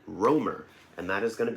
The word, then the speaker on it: Rohmer: It is not Eric Bomer, it is Eric Romer.